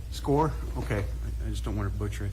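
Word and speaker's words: Skaar: And I believe you pronounce his name as like Scar, but is it Sergeant S-K-A-A-R? That's correct. How did you pronounce that? Sergeant Score? Score?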